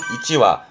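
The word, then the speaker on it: 一羽: 발음은 이찌와, 와로 가요. 이때는요.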